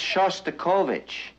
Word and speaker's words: Shostakovich: That's Shostakovich.